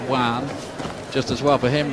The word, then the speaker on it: Joan: favorite here Juan Gman it looks like Joan Gman when you look at the name on paper but it's pronounced Juan just as well for